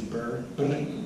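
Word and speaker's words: birr: Ethiopia they have that which is burn that's how they say it just evaluate 20% they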